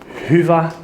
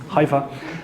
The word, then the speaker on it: Hyvä: Um it's pronounced Huva. It's Finnish. uh but Huva or whatever also works Hiva uh we started in